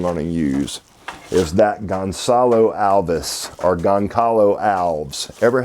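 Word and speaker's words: Gonçalo Alves: I'm not even sure how to pronounce this, but this is, I call it Goncalo Alves, but I have been told that it's Gonzalo Alves.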